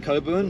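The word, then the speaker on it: Cockburn: Definitely pronounced Coburn, They like put a the little line there sherry.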